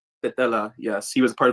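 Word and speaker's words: Tetela: And Vavar, what's the how do you pronounce the ethnic group he was a part of? Tatella. Tatella.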